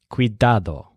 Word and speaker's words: cuidado: his word for carefulness has the stressed syllable dad cuidado the idiom for being